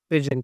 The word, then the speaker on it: pidgin: मत होना है ना पी आई डी जी आई एन इसको प्रोनंसिएशन करते हैं पेजन क्या प्रोना सिएट करते